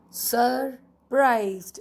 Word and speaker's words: surprised: Surprised. Now we don't say surprised, we say the R is silent.